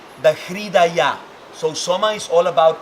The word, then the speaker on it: Hridaya: There's another point here that I love that is related to this part, that is called the hridaya.